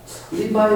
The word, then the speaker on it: Levi: L-E-V-I만 하면 어떻게 발음이 되죠? L-E-V-I 리바이 어디서 많이 들어봤는데?